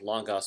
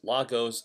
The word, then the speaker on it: Logos: at a fresh installation of Logos Bible Software, or Logos Bible Software. Or in Texas, Logos and Logos are also correct pronunciations.